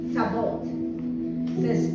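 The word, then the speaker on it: Sabaoth: shalom vamos a ver a yahwe sab sabat sabot Jehová Jehová Perdón Jehová sabot se escribe s a w a o th ya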